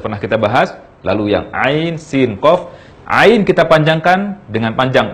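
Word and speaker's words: عسق: Sehingga ayat kedua dari surah Asy-Syura ini kita baca ain sin qaf.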